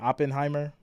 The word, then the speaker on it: Oppenheimer: Oppenheimer? Is that what I should be saying? Oh, let me. Yeah, Oppenheimer.